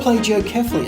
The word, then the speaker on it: plagiocephaly: is blade you cephalic so what is plagiocephaly or pledge oh carefully as some do pronounce it today we're going to